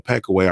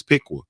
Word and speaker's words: Piqua: like and then our with the peck away I realized it was the pronunciation is Piqua you feel me and